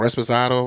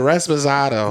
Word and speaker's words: Reposado: I always say it wrong. Reposado. Reposado. Reposado. Represent. There you go. I've been saying Resposado, No.